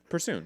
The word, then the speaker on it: Persoon: How do you say Persoon. There's an S.